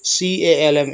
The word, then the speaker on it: calm: COW काऊ is very काम, काम मतलब शांत, इसमें जो एल होता है इसे नहीं पढ़ते हैं, साइलेंट होता है, CALM, इसको काल्म नहीं बोलते हैं, काम बोलते हैं।